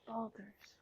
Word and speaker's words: Baldur's: It's Baldur's. Baldur's. Sometimes I think you mispronounce things purposefully.